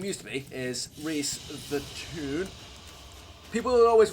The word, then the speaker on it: Rhys: And so when people look at it for the first time, they always think but it's actually Reese.